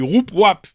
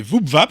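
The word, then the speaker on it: Woupwap: Comme Voupvap, ça s'écrit W-O-U-P, W-A-P. Alors, les gens sont toujours un peu gênés. Ah bah ouais, on dit Roup-Wap.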